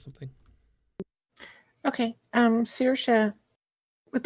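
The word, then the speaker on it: Saoirse: The three of you guys, Sorche, did I say it right that time? I didn't. Siorche. Sirsha, right? Yep. Sirsha.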